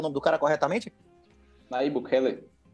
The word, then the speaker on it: Bukele: Você acha que outros países vão seguir o exemplo de de Bukell? Como é que chama? Pronuncia o nome do cara corretamente? Naí Bukele.